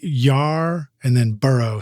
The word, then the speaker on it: Yarborough: It's like Yar and then Burrough, spelled like Burrough, Borough.